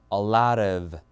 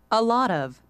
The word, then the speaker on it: a lot of: 학교 다닐 때도요 그래서 미국 영화에서는 저 티 발음 모음사이 껴 있으니까 그대로 뭐 리처럼 싹 변하면서 a lot of a lot of 이거고 영국은 아니에요 이거요 a lot a lot라고 그냥 티 발음 그대로 살리죠 자 한번 들어 보시면요